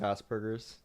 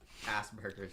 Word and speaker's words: Asperger's: It's pronounced Asperger's. Asperger's, true.